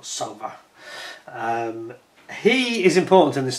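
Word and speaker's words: Sowa: And Kurt Sauver, the last chap, it's spelled S-O-W-A surname, but I think it's pronounced Sauver, or Sauver.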